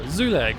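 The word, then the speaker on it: Zulag: So, it's a U and then an A after an L. So, Zoolag. Yeah, I'm pretty sure. Zoolag. I'm pretty sure that's how you say it.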